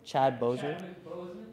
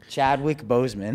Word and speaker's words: Chadwick Boseman: Chad Boswick? Chadwick Boseman.